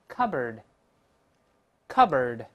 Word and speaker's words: cupboard: 我们再读一下后面这个壁橱，先读第一个 cupboard，cupboard，不要读 cupboard，不这么读啊，再来一遍 cupboard。